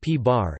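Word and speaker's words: p̄: The antiproton, P, pronounced P-bar, is the antiparticle of the proton.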